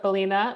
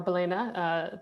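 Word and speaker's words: Balena: ahead sure hi folks i'm a ceo at bellina or belena depending on how you want to pronounce it we are a company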